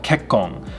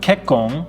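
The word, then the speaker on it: 結婚: tsu sound we have kekkong so this is pronounced very similarly to kekko which means i'm fine but kekkong with an in at the end of that means marriage or mary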